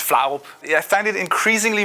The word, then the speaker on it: Flarup: My Twitter handle is Flarup, I believe the Americans pronounce it. You guys probably have an easier time pronouncing. I'm Danish. It's Flarup.